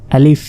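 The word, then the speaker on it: ألف: করে বাংলা প শেষে আলিফ আলিফ বলে আসলে এটা আলিফ আলিফ আর আলিফে কোন টান নেই এটা দ্রুত বলতে হবে আলিফ এখানে দেখুন ক্রস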